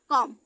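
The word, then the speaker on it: calm: भी साइलेंट होगा, तो सी ए एल एम, कॉम। ठीक है, यहाँ का एल साइलेंट है, सी ए एम, कॉम, बॉम, पॉम।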